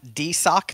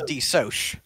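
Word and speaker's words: DeSoc: um is and i it's shortened as d-e-s-o-c uh which looks like d sock to me but i'm going to call d soch what are you calling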